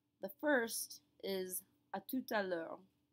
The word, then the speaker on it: à tout à l'heure: But when I put the sentence together, I say à tout à l'heure. Do you hear that second T that gets pronounced right there at the end of tout?